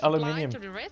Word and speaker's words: aluminium: Dude, in German it's also aluminium. Yeah. So I always make that mistake as well. There's so many good choices. I know, right? It's just your weird language that says aluminum.